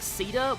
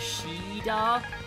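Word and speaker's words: Shiida: does not get I think it's pronounced like ceda with like the c version I always pronounce the same way as the Japanese which is sheda uh but in the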